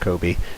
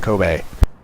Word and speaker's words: Kobe: And as a note to Coyote, yes, I know Kobe Bryant is pronounced Kobe, but I like saying Kobe.